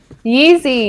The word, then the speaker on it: Yeezy: Is that how you say it? Yeezy, yeah. Yeezy.